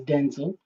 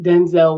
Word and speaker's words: Denzel: I remember uh I think it was Denzel Washington um whose accurate pronunciation is Denzel, but Denzel Washington as we know him uh mentioned the fact